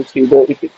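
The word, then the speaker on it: pseudo: पी मतलब पी इसका silent होता है, इसलिए हम इसको स्यूडो स्पेसिफाइड कहते हैं। इसका पी साइलेंट होता है एसएसपी।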